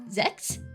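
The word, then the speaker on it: Sechs: Yes, it is spelled s e c hs, not s e x. Um, I might start stealing the Japanese pronunciation of zets. Uh because that makes it sound less like people having sex.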